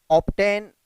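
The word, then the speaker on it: obtain: ठीक है, ऑब्टेन, obstruct, ये दोनों ऐसे वर्ड्स हैं जहाँ पे क्या आया है, ऑप्टेन में बी के बाद टी तो आया है, लेकिन यहाँ पे बी साइलेंट नहीं है।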